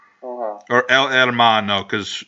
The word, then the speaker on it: hermano: perfect cell versus el hermano or el hermano cuz in Spanish you don't pronounce the H most of the time it's a thing and